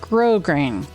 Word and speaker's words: grosgrain: I don't know how you pronounce that. It is pronounced grosgrain.